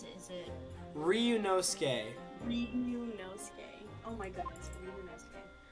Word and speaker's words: Ryunosuke: Oh, I forgot how to pronounce it. Is it... Ryunosuke.